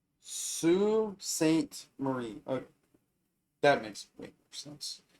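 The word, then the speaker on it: Sault Ste. Marie: It's pronounced Sue St. Marie.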